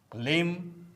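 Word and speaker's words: limb: कॉम, com, Baum, Baum, क्लाइम, क्लाइम, date, date, लिम, लिम, थम, थम, टुम, टुम, डम, डम, लैम, लैम, नम, नम, debtor, debtor, doubt, doubt, Plummer, Plummer, subtle, subtle.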